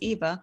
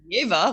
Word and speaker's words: Eva: I got into this mentality when I'm in Canada, it's Eva. Everybody knows me as Eva. When I get to Syria, it's Ava because that's how they pronounce it there. Yeah, Here in Russia, exactly. it's Yeva, which I really like Yeva.